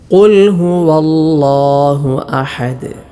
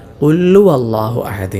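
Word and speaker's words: قل هو الله أحد: ഈ ഒന്നാമത്തെ ആയത്തിൽ ശ്രദ്ധിക്കേണ്ടത് ചിലരൊക്കെ ഓതാറുണ്ട് കുല്ലു അളാഹു അഹദ് എന്ന് കുല്ലു അളളാഹു അഹദ് ഹാ തിരയില്ലാത്തതുപോലെ ഹാവും വാവും ഒന്നും വെളിവാക്കാതെയുള്ള ഒരു ഉച്ചാരണമുണ്ട് പാരായണം കുല്ലു അളാഹു അതൊക്കെ പിഴവാണ് കുൽഹുവളാഹു അഹദ് ഓരോ ഹർഫുകൾക്കും നല്ല അക്ഷരസ്ഫുടത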